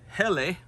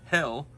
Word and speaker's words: Helle: good look to it and this is a heli I've learned that it's actually pronounced hell I don't like saying that so I'm just going to call it helle here's your Jay Martini from Finland really great